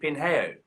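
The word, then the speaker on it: Pinhão: we went up to pingyao and I'm Portuguese was so awful we pronounce it pin hair we just hit the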